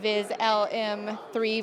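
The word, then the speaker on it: VisLM 3: game-changing new features in viz lm3 versus viz lm2 am I saying that right you are you are saying it right so um the main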